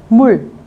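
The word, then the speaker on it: 물: Nếu đứng trên nó sẽ đọc là R, nếu đứng dưới như thế này các bạn sẽ đọc là L. Đọc L cao. Mul.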